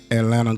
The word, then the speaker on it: Atlanta: We don't pronounce none of the T's in Atlanta.